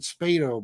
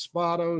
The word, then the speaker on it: Spado: with spado i always pronounced it spato by the way but he says it's spotto so i respect that